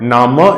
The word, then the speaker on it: Name: word is written so this is name in english but nama in german in german this is nama so nama is written